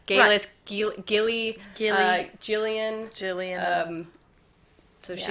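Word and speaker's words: Geillis: Galis, I think we said Gillis. We thought it was Gillis Duncan, and then we found out it was Galis Duncan.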